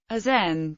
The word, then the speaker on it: Aachen: Aran German pronunciation aen also known as bad aren is a spar